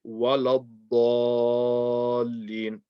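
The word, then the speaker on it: وَلَا الضَّالِّينَ: So you hear people say waladallin, wala. They say wa and la. You want to say wa la. Walad. The waw will be light, the lam will be light, the dad will be heavy. Waladall, like that.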